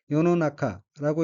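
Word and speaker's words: 世の中: 둘째 줄 첫 번째 어휘는 한자가 인간 세자와 가운데 중자가 들어있고 일본어로는 요노나카라고 읽으며 요노나카는 세상이란 뜻입니다. 다음 어휘는 한자가 허물 죄자이고 일본어로는 츠미라고 읽으며 츠미는 죄란 뜻입니다.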